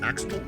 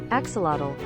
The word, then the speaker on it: axolotl: an axe a hatchet how do you actually pronounce this axle axolotl axolotl and on day two i also found